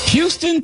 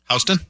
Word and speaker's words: Houston: Houston? Yeah. No. They call it Houston in New York. It's Houston in Texas.